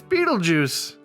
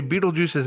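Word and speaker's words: Betelgeuse: and who do we have we've got it's beetlejuice that's funny so this is the first one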